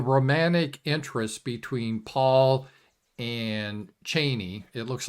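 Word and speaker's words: Chani: and how the romantic interest between Paul and Cheney it looks like Chie but Frank Herbert pronounced it Cheney it it really didn't work in the movie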